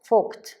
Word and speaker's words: Vogt: Porque no quiero pronunciarlo mal porque no me atrevo. Vogt.